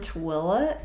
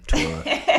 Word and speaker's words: Tooele: And she's like, are you from Tooele in Utah? And I'm like, no, we don't claim Tooele. We're from Stansbury Park, which is Tooele County.